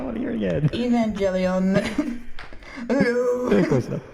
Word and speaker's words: Evangelion: I don't know how to pronounce it. Come on. Evangelon. Come on. Evangelon. Come on. I want to hear it again. Evangelion.